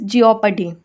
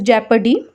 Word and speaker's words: jeopardy: Okay, jokes aside, moving on to the sixth word for today, that is jeopardy. Okay, sorry, the correct pronunciation for it is jeopardy.